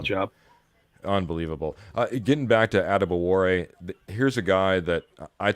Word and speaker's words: Adebawore: Oh, Adebawore, I know, is the right pronunciation on that last name.